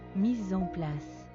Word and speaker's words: mise en place: How do you pronounce it? Mise en place.